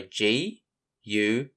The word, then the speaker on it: guard: So for spelling, the word starts with GU, followed by how the rest of the word is sounded out. ARD for ARD. So GUARD spells guard.